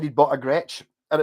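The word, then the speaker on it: Gretsch: and stuff like that because he knew how to spell it because if you've never under Gretch you've probably never looked up and gone it's GRE t s t h the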